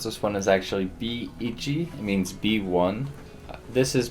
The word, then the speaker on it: B Ichi: haven't heard of it so the way you pronounce this one is actually b ichi it means b1 this is by the same